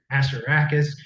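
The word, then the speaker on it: Assaracus: But I pronounced it Asteracus. Emphasis on the ass for a little shock and awe of my And it worked.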